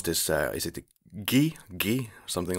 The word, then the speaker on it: Xi: So that's a click in the very center of your mouth. Oh, dear. So it's Gi. Yeah, Honestly, probably the closest way to pronounce it would just be with a K, just ki.